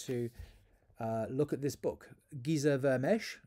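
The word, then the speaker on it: Géza Vermes: And to help us explore this issue, I want to look at this book, Giza Vermesh, is how it's pronounced, The Authentic Gospel of Jesus.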